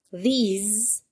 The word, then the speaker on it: these: This, that, these, and those. Oke, baca yang pertama this. Tulisan yang tehese dibacanya these, pakai Z. Yang depan pakai S, yang belakang pakai Z.